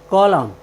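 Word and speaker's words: column: अंत में आया है इसलिए हमने एन का उच्चारण नहीं किया है हमारा नेक्स्ट वर्ड मीनिंग है सी ओ एल यू एम एन कॉलम कॉलम मीस होता है स्तंभ और हमारा नेक्स्ट वर्ड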